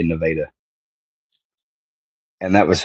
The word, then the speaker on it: Nevada: They say Nevada. It's spelled Nevada, like the state of Nevada, but the people that live there say Nevada.